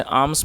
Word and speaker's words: alms: और दोस्तों, ALMS, इसमें M साइलेंट है तो उसे आर्म्स पढ़ेंगे जिसका मतलब होता है भीख या भिक्षा।